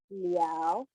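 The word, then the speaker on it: 了: Well, in this case, this is pronounced as not la, but liao. Yeah, it's pronounced as liao, not la.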